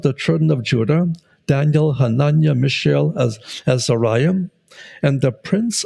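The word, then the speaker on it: חֲנַנְיָה: Hananiah, which in Hebrew is pronounced Hananiah, means Jehovah is gracious.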